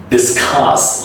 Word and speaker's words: discuss: Next is discuss. You push more stress at the end.